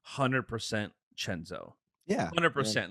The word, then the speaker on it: Chenzo: Chenzo. It's Chenzo. CENZO, spelled Senzo, pronounced Chenzo. Or spelled Chenzo.